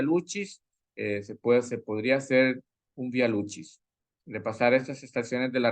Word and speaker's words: Via Lucis: Este Via Lucis, en latín se pronuncia así Via Lucis o Via Lucis. Algunos podrían decir Via Lucis.